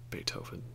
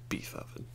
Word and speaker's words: Beethoven: have some hilarious mispronunciations they usually call Socrates sokrates or Beethoven beef oven so these are some